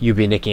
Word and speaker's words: Yume Nikki: i call it that way even though it's pronounced you be nikki anyways just imply that's like the second game